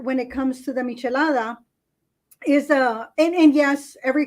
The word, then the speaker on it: michelada: do these they're called chalada is that how it's pronounced it's a michelada so there's a history